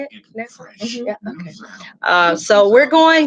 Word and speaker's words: Nassau: Nassau?